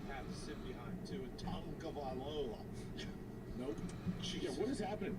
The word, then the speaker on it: Tagovailoa: Tua Tagovailoa, just like he said it, just how Tua said it.